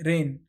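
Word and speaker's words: reign: का यूज करते हैं तो इसको हम किस तरीके से प्रनाम प्रोनाउंस करेंगे इसको हम बोलेंगे रेन अब इसका अपोजिट मीनिंग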